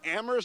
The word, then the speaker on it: Amherst: the weather here in amoris Massachusetts with a silent h here we go everybody